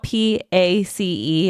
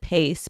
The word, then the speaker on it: Pace: It's spelled P-A-C-E, and everybody calls it Pace, but essentially Pace.